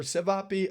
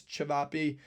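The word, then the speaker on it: Ćevapi: Cevapi or Sivapi, again, pronunciation not the best. I think it's Cevapi.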